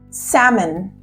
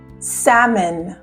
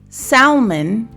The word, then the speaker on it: salmon: have the fruit salad salmon salmon don't pronounce the L it's not salmon it's salmon I'll have the grilled